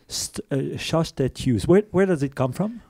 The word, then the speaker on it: Sjöstedt-Hughes: How do we pronounce your last name? Sjöstedt-Hughes. Sjöstedt-Hughes.